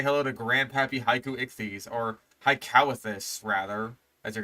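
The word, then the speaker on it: Haikouichthys: It's like, it's basically the word haiku, as in, like, you know, the poem Japan, and then ichthyes, as in, like, the basic fucking prefix for fish that is used all across science.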